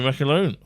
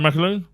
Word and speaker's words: McAloone: And a special guest, another funny man to be in this room, McAloone. Am I pronouncing that right, McAloone?